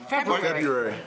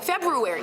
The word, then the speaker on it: February: February. No, Yeah. I don't say brewery. She's got a rule in there. February. No, it's not silent.